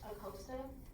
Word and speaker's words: Acosta: at every acosta and my last name is pronounced acosta oh like in costa rica my name is